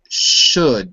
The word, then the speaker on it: should: So should, just like book.